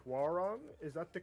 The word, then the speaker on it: Hwoarang: the name wrong, but I want to say Hwoarang. Is that the correct pronunciation? Yeah, Hwoarang.